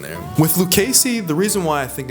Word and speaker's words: Lucchese: And then last, there was Lucasy, which I always seem to pronounce incorrectly. Lucasey. Lucase. Luces. It's It's Lucasey, I know, but like I I want to say Lucase because like there's E, SSCC. Like there's all these different syllables in there with Lucasey.